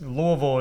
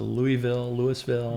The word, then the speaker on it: Louisville: yeah, and it's Louisville in general.